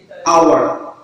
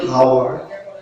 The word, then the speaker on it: hour: আওয়ার, নট হাওয়ার, আওয়ার। এখানে এই যে উচ্চারণ হবে না, অর্থাৎ সাইলেন্ট।